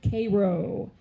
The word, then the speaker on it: Cairo: So Cairo is how you pronounce it.